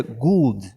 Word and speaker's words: Gould: O Gold se pronuncia Gould. Não é igual escreve Gold. É o jeito antigo de escrever Gold. Então, mas o jeito que o povo pronuncia lá é Gould.